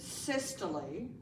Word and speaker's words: systole: When you see the word systole, that's how you pronounce it, systole, I want you to think contracting, okay?